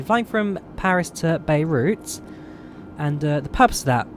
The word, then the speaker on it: Beirut: Beirut even. I don't know why I keep messing that up. Beirut. Yeah, so we're flying from Paris to Beirut.